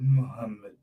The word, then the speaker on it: Muhammed: So because the PPP say, because a thing like Jagdeo and Irfaan Ali, Muhammed, sorry, we've got to pronounce his name correctly, Muhammed.